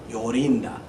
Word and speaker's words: Jorinda: with a J but in Germany and in Scandinavia J is pronounced like a y yinda yoring so now I'll